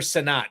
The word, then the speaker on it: Sinnott: Is it Sinnott or Sinnott, John? Sinnott. Sinnott. Okay, Ben Sinnott. I will not pronounce it Sinnott again.